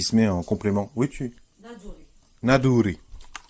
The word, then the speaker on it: Naduri: Oui, Naduri. N-A-D-O-U-R espagnol. Ah. Naduri. Naduri. Donc c'est pas la R donc c'est pas la R espagnole. N-A-D-O-U-R-I. C'est le re français.